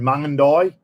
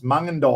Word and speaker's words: Mungindi: Then we went up through Mungindi, not Mungindi. I called it Mungindi, and it wasn't until Phil Taylor said, "You idiot, it's Mungindi."